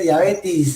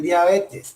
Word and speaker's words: diabetes: No se dice diabetes, es diabetes.